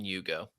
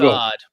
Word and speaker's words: Ugo: Could be Ugo. It's Hugo without the H, so I'm thinking Hugo. It's Cousad. Ugo. It's what? Ugo. Ugo? Hugo. There's no H there. Ugo. Ugo. There we go.